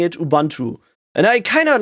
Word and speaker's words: Ubuntu: got used to pronouncing Ubuntu Ubuntu because it's it's very similar to to how you pronounce it in German in German you would